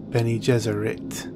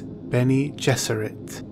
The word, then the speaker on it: Bene Gesserit: pronounce Akio then he just read some may pronounce it been ages or it or Benny Jesuit but it is Bene Gesserit Benny Jesuit then e Jesuit and Benny is